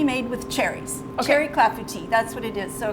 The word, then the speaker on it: clafoutis: Clafoutis. Clafoutis.